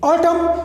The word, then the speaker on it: autumn: m comes before n autumn in autumn also m comes before n so n is silent here here as well uh